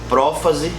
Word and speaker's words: prófase: esclarecer um negócio legal todas essas palavras elas fossem um assento tá prófase metáfase anáfase e telófase então cuidado na hora de você pronunciar isso que a gente tem